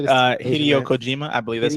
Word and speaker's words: Hideo Kojima: Hideo Kojima, I believe that's how you say it.